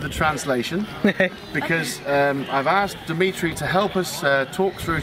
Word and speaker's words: Dimitry: And I'm going to let Maria pronounce Dimitry's name.